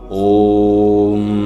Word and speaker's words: ওম: আর এই ওয়ের উচ্চারণ পেট থেকে, অয়ের উচ্চারণ গলা থেকে, আর ময়ের উচ্চারণ মাথা থেকে হবে। আমরা কিন্তু এই ওম শব্দ উচ্চারণের মাধ্যমে আগে